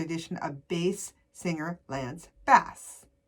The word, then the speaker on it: Bass: of bass singer Lance Bass. It's funny, his last name is spelled B-A-S-S, but it's pronounced differently than bass.